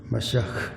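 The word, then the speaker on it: מָשִׁיחַ: 히브리어를 한국어로 발음할 때 메시아, 히브리어는 마시아흐 이렇게 발음합니다.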